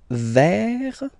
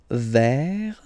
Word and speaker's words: vert: Next, you get vert, vert, okay? T is not pronounced here.